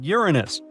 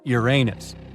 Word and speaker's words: Uranus: super eruption well well we've been miscalling Uranus all this time actually astronomers say we should be pronouncing it like Uranus not Uranus I can't say a different stress changes much though however things could have